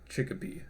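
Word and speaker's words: Chikipi: And this is Chickapee.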